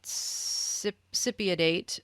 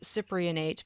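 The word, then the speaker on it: cypionate: um so i got sipidate uh which i always want to pronounce cyprianate because the cyprian is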